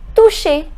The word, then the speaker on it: toucher: Next, toucher. Remember I told you the pronunciation of CH is sh. So it becomes toucher.